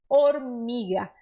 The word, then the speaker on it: hormiga: H, ele é sempre mudo no espanhol. Então, essa palavra você vai pronunciar hormiga. Ai, mas Pamela, e a palavra hamster? Algumas palavras do espanhol, pouquíssimas, que vieram de outros idiomas, mantêm alguns Hs, algumas letras H, com o som originário daquele idioma. Por exemplo, hamster. Mas a regra é que o H no espanhol é mudo.